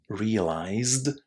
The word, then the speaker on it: realized: So just remember, no extra syllables, and if you can't say zd or jd, as in managed or realized at the end of the verb, just say st or cht.